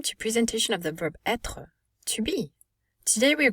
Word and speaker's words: être: pronunciation as well as conjugation so we would pronounce etre to be but we will say remember you